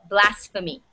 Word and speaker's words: blasphemy: that is blasphemy okay so pH is the said as F this blasphemy all right that's what